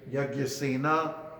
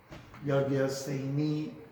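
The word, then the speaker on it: Yajñasenī: Shri Shuka Uvacha Shrutva Prita Subala Putri Ata Yagyasena. I see. Yagyaseni. Oh, so yeah, that is supposed to be a long I at that end. Yagyaseni.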